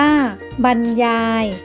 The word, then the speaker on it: บรรยาย: ใช้ กับ พระ ภิกษุ บรรยาย อ่าน ว่า บรรยาย หมาย ถึง ชี้ แจง